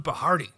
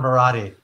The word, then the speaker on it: Barati: today I have siron bahardi oh I messed up your last name it's all good it's h it's pronounced Sahan barati Sahan barati I'm very excited because